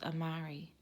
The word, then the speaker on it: Amari: me right I nodded my name's Amari he rapped rhymes with Atari I'm old-school like that